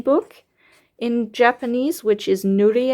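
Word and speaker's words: ぬりえ: Hiragana or kanji for coloring book in Japanese, which is Nurie. I think it's pronounced Nurie. I'm not completely sure.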